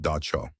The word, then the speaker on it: Dab Sog: One of the figures in this world is a terrifying creature called the Dab Sog, pronounced Da Cho, a jealous night spirit that sits on your chest while you sleep, trying to crush the life out of you.